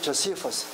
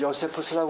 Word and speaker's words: Josephus: 미국 발음은 조세푸스. 액센트가 여기 있다고. 조세푸스. 우리 한국 사람들은 요세푸스라고 그러죠.